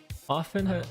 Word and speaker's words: often: blah blah blah blah often often has a medial T that like similar words such as hasten and soften it was once pronounced and is now typically silent unlike similar words pronouncing